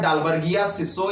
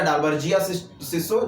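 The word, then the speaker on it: Dalbergia sissoo: ध्यान रखिएगा, मेंथा एर्वेंसिस पुदीने का वैज्ञानिक नाम है, और शीशम का क्या नाम होता है, डालबर्गिया सिसो या डालबर्जिया सिसो, जैसा प्रोनाउंसिएशन हो तो ये कर लीजिएगा।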